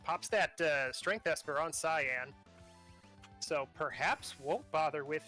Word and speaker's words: Cyan: So, all right, it's not Cayenne because Cayenne, I think, is how the Japanese want you to pronounce it. Right, I guess that doesn't count. Cyan?